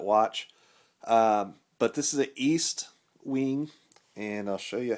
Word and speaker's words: Estwing: other countries that watch but this is an east wing and i'll show you how to spell it if you are an ebayer and uh